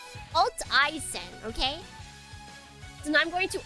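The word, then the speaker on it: Alteisen: Your name is pronounced Alt Ien. Alt I not Altaisen. Alt E isen.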